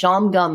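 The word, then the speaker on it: Shawangunk: They're not they're not spelled like that, but they're pronounced Shamgum Mountains.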